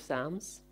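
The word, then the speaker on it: Psalms: not the case um it's just my accent it's the proper way to say sams so we're going to be looking again at the book of sams and last time we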